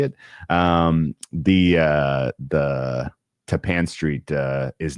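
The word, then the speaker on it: Tappan Street: It's Tapan Street, not Tapen Street. I don't understand why Ta Pan is Tapan like rhymes with Japan, but be it.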